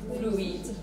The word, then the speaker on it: fruit: We make lots of different sounds, but not ooey. Fruit. You and I together, here. You and I together make ooh.